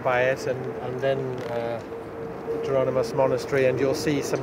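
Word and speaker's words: Jerónimos: that I've ever come across, which is the Geronimus Monastery is the right pronunciation.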